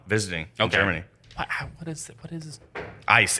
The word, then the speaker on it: Eis: What is Ice. It's spelled EIS. Okay. But it's pronounced ice.